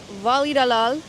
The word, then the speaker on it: Valladolid: So, right now, we're in Voli Dalal. That's how you pronounce it.